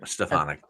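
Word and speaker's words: Stefanik: AES she's awesome stonic is that how you pronounce it yeah stefanic and and funny and funny you bring up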